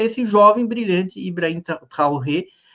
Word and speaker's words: Traoré: Um deles é esse jovem, brilhante Ibrahim Traoré, Acho que a pronúncia do nome dele não é essa, é Traoré. Traoré é a pronúncia afrancesada.